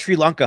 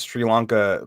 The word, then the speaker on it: Sri Lanka: The first person who says Sri Lanka pronounces it wrong. I forget who it was. They're like Sri Lanka, and he's like, and then he corrects them afterwards. Like, you mean like basically he's like Sri Lanka doesn't affect you.